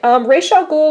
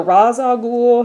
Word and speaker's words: Ra's al Ghul: All right, Ra's al Ghul, or Ra's al Ghul, it's pronounced different ways.